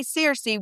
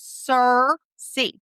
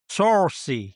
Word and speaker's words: Searcy: us and you say Searcy, we know you are not from from Searcy, Arkansas. It is Searcy. Searcy. Searcy. You got to get that Southern accent going a little bit. Okay. Searcy.